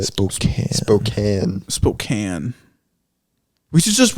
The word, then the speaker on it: Spokane: I was like, man, that is how it's spelled, though. But it's based on, like, the Yeah, tribal yeah. way Yeah. of saying it. Spokane.